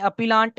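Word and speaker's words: appellant: इधर हम लिखते हैं अपीलांट और अक्यूज, अपीलेंट भी बोलते हैं, अपीलांट भी बोलते हैं। वो प्रोनाउंसिएशन आपके ऊपर है, आप क्या बोलते हैं। तो मैं तो अपीलेंट बोलता हूँ।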